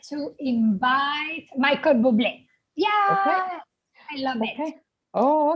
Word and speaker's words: Bublé: Bubble. Yeah. Bubble. No, but Was- this last name is French, you know? So yes. the No, pronunciation it's is well, Bublé.